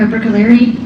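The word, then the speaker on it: Bruccoleri: Can you please state your name and spell it for the record? Sure. It's Dr. Brookaleri.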